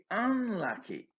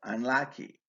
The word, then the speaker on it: unlucky: I think I was pretty unlucky. Here, the adjective unlucky usually takes the main stress on its second syllable, unlucky. But the first syllable is stressed in B's response to contrast it with lucky.